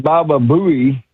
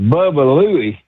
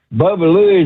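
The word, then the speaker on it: Baba Looey: It's not Baba Buoy. It's pronounced Bubba Louie. Bubba Louie is a fictional M Mexican donkey that appeared in the Quick Draw McGraw show.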